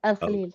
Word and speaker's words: Al Khalil: Al Al Khalil.